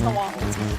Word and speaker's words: New Orleans: We don't say New Orleans unless it rhymes in a song. It's New Orleans.